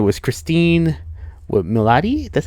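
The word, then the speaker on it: Cristin Milioti: It was Christine Milioti, that's how you pronounce her name, who plays Sophia Falcone.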